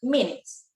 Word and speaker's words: minutes: Cuando lo pronunciamos rápido serían minutes. Si ponemos a un traductor electrónico que pronuncie lento, va a sonar como si esta U la estuviera pronunciando minutes, ¿no? Pero al hablar rápido, al acercarnos a la fluidez, simplemente vamos a nombrar minutes.